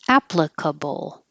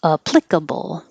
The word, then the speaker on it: applicable: So the first one is applicable, applicable. And then the second one is applicable, applicable. They're both right, so whichever one you prefer.